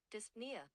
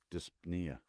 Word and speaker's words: dyspnea: Pronunciation. Dyspnea. Dyspnea.